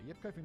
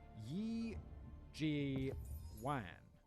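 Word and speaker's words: 葉繼歡: In Mandarin, it'd be pronounced as Yi Ji Wan. Yi Ji Wan. Instead of Yip Kai Foon.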